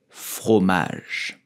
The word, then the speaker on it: fromage: so we will say fromage fromage through Magic fromage do not pronounce the e at the end like fromage but just people say that